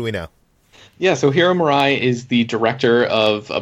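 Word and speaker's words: Murai: America and Atlanta hero Murray I think is how you pronounce it or Mirai it's Mirai hey is helming a new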